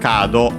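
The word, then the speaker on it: カード: We check its accent. Okay, accented on the ka, as expected, on the first syllable.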